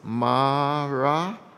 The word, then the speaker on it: Maranatha: which means come Lord, breaking it into four syllables, Maranatha.